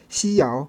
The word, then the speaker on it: xiao: L'ensemble dessine une courbe mélodique qui rappelle le mot italien ciao ou les premières syllabes de Yahoo en français. Un bel exemple à pratiquer pour en sentir le flux est le mot xiao qui signifie petit. Répétez xiao, xiao.